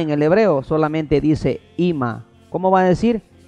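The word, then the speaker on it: אמא: Usted quiere decir mamá en el hebreo, solamente dice Ima. ¿Cómo va a decir? Ima.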